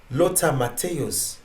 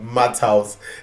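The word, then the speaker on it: Matthäus: the video game fifa lotta mateos lots of math house no like math house is 100 percent how love called and i just couldn't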